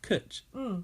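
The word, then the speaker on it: cwtch: learn new words but do you pronounce it like that Kut yeah okay and I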